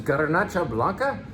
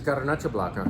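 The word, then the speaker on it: Garnatxa Blanca: This is Garnacha Blanca, and it's spelled with a T and an X instead of a CH because it is from Catalonia.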